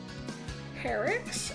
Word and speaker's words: Perixx: This is Perix, I think is how it's pronounced.